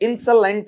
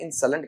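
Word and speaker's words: insolent: तो इंसलेंट है। इसका उच्चारण सुन लेना बेटा। आई एन एस ओ एल इ एन टी। इसका अगर मैं उच्चारण करूं तो इसे क्या कहा जाता है? इंसलेंट कहा जाता है।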